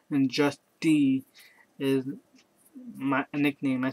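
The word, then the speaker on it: Justie: My name is Just D. It spelled J U S T I E. Just D. Like just like just and Tai. Put it together.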